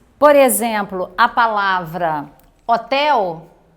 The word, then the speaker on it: hotel: Ao pronunciarmos, por exemplo, a palavra hotel, você não pronuncia o H, certo? Ele é um som silencioso.